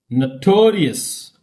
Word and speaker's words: notorious: Notorious. Notorious. Notorious. Okay. Historic. Historic. Notorious. Okay. Engineer. Like that. Okay. So observe my pronunciation.